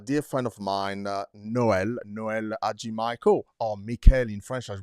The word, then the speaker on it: Hadjimichael: joined by a dear friend of mine, Noel Hadjimichael, or Michael in French as we said it, but I'd rather say Hadjimichael.